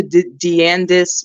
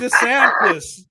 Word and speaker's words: DeSantis: Brent, can I do a shout out to Deandis? What's his name in Florida? Deandis? How do you pronounce his last name?